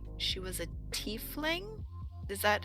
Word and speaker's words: tiefling: We had, I want to say she was a tiefling. Is that how I'm Yep.